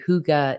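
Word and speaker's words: hygge: Sticker Collection I'm currently designing that's like a Huga inspired theme Huga is spelled h y g g it's like a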